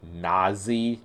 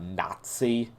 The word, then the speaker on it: Nasi: the book so I I'm gonna call her na z not nazi because you know so